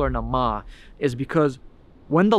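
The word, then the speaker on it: Naama: name in that Community the name that they called her in the Puritan community and to this day is nama n a a m a i actually asked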